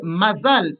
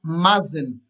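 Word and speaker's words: מזל: au lieu de pote Puisque mazal est un mot hébreu en yidich, il va être déformé et prononcé mazen.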